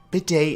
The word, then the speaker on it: bidet: Bidet is a French word, so we pronounce it a little bit differently than it looks.